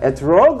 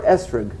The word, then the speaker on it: Esrog: An esrog, Or how you guys pronounce things in yeshiva? Etrog or Esrog?